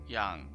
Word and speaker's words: Yangyang: Yung yang. Yang. Yang. Is it yang? It's more of an a sound.